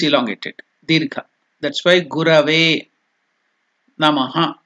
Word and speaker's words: Namah: That's why Gurave, Namaha. Namaha, there is no elongation, dirgha, Namaha. So sometimes the exact pronunciation of Visarga is Namah, half, it has to stop, it is half uttered.